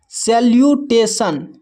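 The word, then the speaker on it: salutation: एस ए को जो है से पढ़ते हैं। एल यू को ल्यू पढ़ते हैं। और टी ए को यहां पर टे पढ़ते हैं। टी आई ओ एन को सन पढ़ते हैं।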